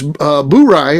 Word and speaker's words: Bourye: Bourye, and that is the correct way to say it.